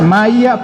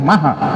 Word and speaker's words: Maja: polic me preguntaba cósimo cómo se pronuncia en original lengua eslava es maya poliak pero Nosotros le decíamos maja verdad y sus compañeros